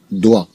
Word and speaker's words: doigt: D-O-I se prononce doigt. D-O-I se prononce doigt.